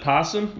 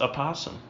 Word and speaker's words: opossum: Every time I've looked it up, there's one of those upside down backwards E's. I don't remember what those are called. Trying to tell me how to say it, and it's opossum, I think. P in pie. Wait, no. P in pie. It's A in opossum. About. It's opossum. Opossum.